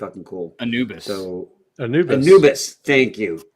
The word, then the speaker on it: Anubis: And I I believe it's called and I don't want to pronounce it wrong, but it's the the Anabus protocol. King Anabus protocol. It's got an Egyptian theme. It's pretty cool. Anubis.